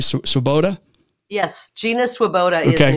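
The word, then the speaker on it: Swoboda: had a new leadership coming Gina am I pronouncing right swaboda yes Gina swaboda is an incredible leader in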